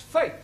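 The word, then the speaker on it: fete: For example, F-E-T-E is also pronounced fate.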